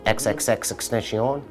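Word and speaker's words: XXXTentacion: Extension, XXX Extension. Is that how you pronounce his name?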